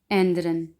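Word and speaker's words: ändern: तो आ उमलाउट को हमने ए, जैसा कि एंद्रन, एंद्रन।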